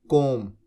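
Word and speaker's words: comb: कोब your hair. कोब B silent होता है।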